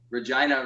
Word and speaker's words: Regina: I think Ryan Reynolds says, and it's funny that guy's a board gamer because Regina rhymes with fun.